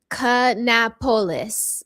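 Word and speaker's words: Kannapolis: He's saying canapolis like Minneapolis, Indianapolis. Canapapolis. Canopoulos.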